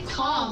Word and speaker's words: calm: The L is silent.